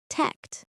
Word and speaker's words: tact: It's a very soft sounding word, just one syllable. Tacked. It sounds exactly like the word tacked, as in I tacked a notice to the board.